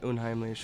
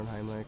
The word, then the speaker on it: Unheimlich: You technically can say it Unheimlich or Unheimlich. It doesn't Okay. matter.